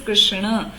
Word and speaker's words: कृष्ण: कृष्ण हम बोलते हैं but right pronunciation is कृष्ण।